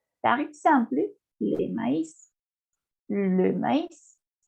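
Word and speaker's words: maïs: Esta S sí la pronuncio por la naturaleza de la palabra. Le maíz. Maíz. En español. Maíz. Le maíz. Cuando ustedes tienen la diéresis en la vocal, se la debe pronunciar tal cual la vocal.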